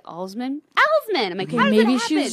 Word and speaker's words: Alsman: on the the Twitter on its J in Osman and that's ALS ma n which is not pronounced Al's men like former college roommate from Michigan she could